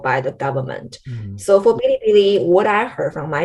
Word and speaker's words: Bilibili: One is called Bilibili. It's just how they pronounce it.